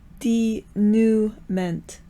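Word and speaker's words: dénouement: to be like a denouncement, Denouncement? What's the French word for resolution? Like the Abajosai was the climax, and now there's it's spelled like denouncement, but it's not pronounced that way, I think.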